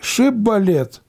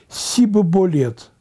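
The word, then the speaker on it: шибболет: Они говорили не шиболет, а они говорили сибоболет, сибоболет. И этот тест они не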